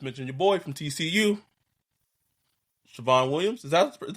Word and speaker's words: Savion: Siobhan Williams. Is that how it's pronounced? Yeah. Is it Siobhan or Savion? I don't know. Savion? Savion, yeah. What about him?